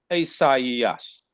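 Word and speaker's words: Ἠσαΐας: The eta is not pronounced as hey. So it would be Isaiah, Isaias, Isaias.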